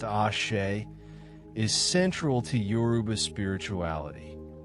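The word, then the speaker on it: Àṣẹ: The concept of ASE, pronounced Ashe, is central to Yoruba spirituality.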